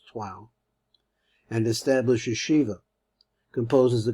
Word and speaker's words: Troyes: And Mainz, 1068, referring to Troyes, which I'm pronouncing the way my French friend says that the Troyes is really pronounced Troyes, and established yeshiva.